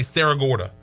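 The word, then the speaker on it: Cerro Gordo: was Columbus County uh Sarah Gorda but it's it's spelled c-e-r-r-o-g-o-r-d-o but I've heard people say Sarah Gorda so that's the town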